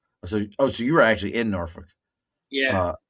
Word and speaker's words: Norfolk: So you were actually in Norfolk. Yeah, You don't even say it right. It's Norfolk. they say So Norfolk, something like yeah, that.